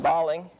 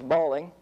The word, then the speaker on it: Balling: published by another gentleman who I imagine pronounced his name balling although around wineries are generally here is as bowling but you'll hear both terms we favor bricks and